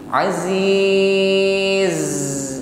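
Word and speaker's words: عزيز: ada ya qowiun ya tampakkan sifat safir ketika mengucapkan Za a Aziz lebih nampak safirnya ketika huruf z ini dibaca berhenti ya Aziz baik sekali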